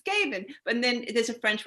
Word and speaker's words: Gabin: i want to get it correct i said gavin but it's gaben but then there's a french way to pronounce it which she will tell you in